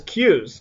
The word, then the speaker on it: queues: the word on your screen is pronounced as Q's just like the letter and what this is